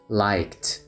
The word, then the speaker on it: liked: ماضي liked أحببت أيضا النطق مالتها صار ينطق كتي حرف تي وليس دي liked liked playing اللعب with